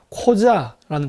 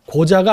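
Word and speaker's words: Қожа: 그게 바로 코자라는 겁니다. 고자가 아니라 코자, 발음 조심해야 돼요. 코자입니다.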